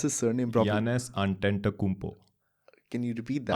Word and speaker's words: Antetokounmpo: Quick question: Can you pronounce his surname properly? Giannis Antetokounmpo. Can you repeat that? Antetokounmpo.